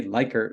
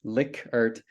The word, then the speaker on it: Likert: item response Theory and rash analysis to improve liquor survey research and before I go any further